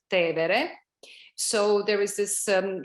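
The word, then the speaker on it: Tevere: the river which we call in english tiber but in italian it's te vere so there is this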